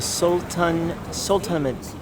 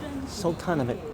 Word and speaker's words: Sultanahmet: This is how you pronounce the uh It's called Sultanahmet. Sultanahmet.